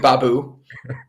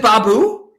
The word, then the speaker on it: Baboo: it yes yes mr babu you know that's that that's the first time you've actually pronounced my last name right is it is it baboo yes do you want to